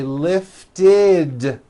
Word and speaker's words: lifted: is the third rule if a word ends in a t or a D sound we add the ending ID which is a vowel I followed by a d which is voiced ID so for example the